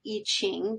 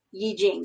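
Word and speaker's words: 易經: Chinese Yi Jing, or you sometimes hear it pronounced I Ching, because that's how it looks like it's written. I believe the correct pronunciation, if we care, is Yi Jing.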